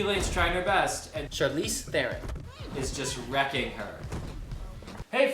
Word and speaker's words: Charlize Theron: And just so you have it straight from the horse's mouth, how to pronounce Charlize Theron? Well, that was it. Charlize Theron. Charlize Theron, not Charlize Theron, but Charlize Theron.